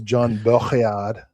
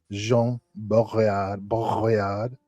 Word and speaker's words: Jean Baudrillard: You're supposed to do the in the back. So it's John Baudrillard, Jean Baudrillard, something like that.